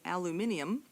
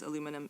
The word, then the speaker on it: aluminium: Aluminium, by the way, is the preferred name in uh or name and pronunciation in British Commonwealth English. It's the same thing as aluminum in American English.